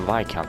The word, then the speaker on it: Viscount: Yeah, I think it was just the Viscount. The S is silent, wasn't it?